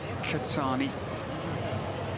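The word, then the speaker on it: Qahtani: getting starter number 15 qah pronounced as katani it's one of our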